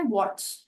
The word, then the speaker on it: watch: अब next word है वॉच, एज इन घड़ी, WATCH। तो इसमें टी को हम साइलेंट रखते हैं या ड्रॉप कर देते हैं, तो इसका साउंड हुआ वॉच, च।